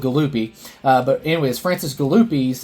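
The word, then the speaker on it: Galluppi: Uh Gal Galupy or it's Galupy. So, I'm going to go with Galoopy.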